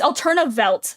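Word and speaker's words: Alternawelt: bit late, but yes, it's 2 Vs making a W, which is pronounced like a V. It's Alternavelt, but it's spelled with 2 Vs, but it's German, so a W is a V.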